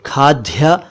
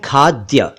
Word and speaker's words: खाद्य: एक शब्द है खाद्य इसे कई लोग खाद्य या खाद कहते हैं सही उच्चारण है खाद्य यानी खाए जाने योग्य